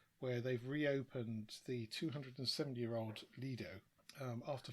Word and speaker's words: Lido: All the dictionaries say Lido. Oh, okay. And the Italians, from the words Latin-based, is also Lido. So there will be a few that pronounce it Lido, and they're wrong, categorically. Okay, so Lido.